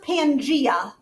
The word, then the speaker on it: Pangaea: It's pronounced Pangaea.